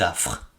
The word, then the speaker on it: affres: 6 lettres, 4 consonnes, 2 voyelles, mais qui ne se prononcent qu'en une seule syllabe, affres.